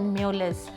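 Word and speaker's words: mjölis: और फिर they played म्यूलिस, look at this word, look at the pronunciation, म्यूलिस। म्यूलिस cards का एक game होता है, वो भी खेला।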